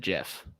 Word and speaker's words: GIF: You said Jif. The inventor said that's the correct pronunciation.